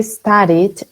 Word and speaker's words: studied: I already studied, and studied cuando entonces termina en vocal, se pronuncia como una de studied. En este caso suena como una it porque ya tenemos una I antes, pero no es por la ed.